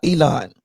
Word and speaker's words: Elon: Is it Elon or Elon?